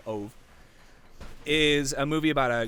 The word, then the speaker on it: Ove: so a man called OVA I they call him OVA in the movie but it's spelled ove so for all intents and purposes I think I'm just gonna say a man called ove is a movie about